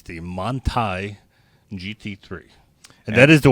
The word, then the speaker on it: Manthey: It's the Manthey GT3. And that is the way to pronounce it. Manthey.